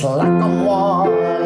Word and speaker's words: Lacamoire: It's Lacamoire, like it rhymes with guar, not Lacamoire, like it rhymes with chore.